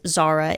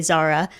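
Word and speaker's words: Zahra: I believe it's Zara. It's Z-A-H-R-A. Yes, Z-A-H-R-A, Zara.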